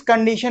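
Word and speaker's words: could: हमारा के साइलेंट है, कुड में हमारा एल साइलेंट है, राइट में हमारा डब्ल्यू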